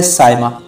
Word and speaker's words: Saima: کی ویڈیو کو شروع کرتے ہیں۔ نام ہے سائمہ۔ سائمہ نام کی انگلش اسپیلنگ ہوتی ہے SAIMA۔ سائمہ نام کا جنس